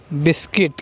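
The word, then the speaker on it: biscuit: words have a है बिस्किट क्या है बिस्किट बिस्किट इस वर्ड में यूज है यह खामोश लेटर है यह साइलेंट लेटर इसकी आवाज नहीं निकल रही है बिस्किट स्कूल में बिस्किट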